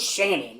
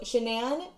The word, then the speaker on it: Shanann: slapped with a lawsuit because you said the name wrong her name was shannon like oh no it's an n okay anyway so shanann met chris watts in